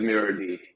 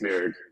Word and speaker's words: mirrord: use it it is it is mirror d uh tragically a lot of people do think it's mirrored but uh uh yeah it's the tech pronunciation the Linux pronunciation all right and how